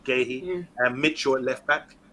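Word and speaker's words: Guéhi: started with Ward up right back Anderson and gay he pronounced that correctly gay he and Mitch short left back um decorating Hughes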